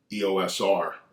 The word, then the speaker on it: EOS R: and that is the Canon EOSR or EOS R, depending on, I guess, wherever you are in the world pronouncing it.